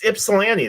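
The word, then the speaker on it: Ypsilanti: It's Ipsellani. That's how it's I'm from Michigan. Like, that's how it's pronounced.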